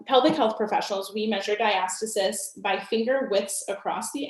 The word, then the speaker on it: diastasis: a very popular topic so diastasis or diastasis there's a few different ways to pronounce it i just say diastasis is very common during